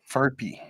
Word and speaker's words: Furphy: I think it's how you pronounce it. That is such a bad fuck because I'm like Murphy, but it's an F. Yep. Furphy.